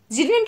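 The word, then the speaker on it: pseudonym: ज़्यूडोनिम की स्पेलिंग बहुत अच्छी है, ध्यान रखिएगा, पी से स्टार्ट होती है।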